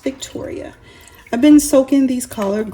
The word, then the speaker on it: Victorie: Hi YouTube family, welcome back to my kitchen at VICTORIE, pronounced Victoria.